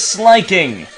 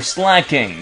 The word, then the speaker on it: Slaking: Next one up is Slaking, or Slacking, depending on the way you want to pronounce it.